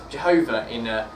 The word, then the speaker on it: Jehovah: And Mark's already partially alluded to it, but that's also pronounced Jehovah I think that's a Latin translation, I think.